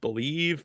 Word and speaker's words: BLEAV: I guess it's pronounced Believe, but it's BLEAV.